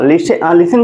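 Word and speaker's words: listen: ई आता है और टी के बाद अगर सी एच आता है तो उस कंडीशन में क्या होता है कि हमारा जो टी लेटर होता है वो हमारा क्या होता है साइलेंट होता है तो हमने टी को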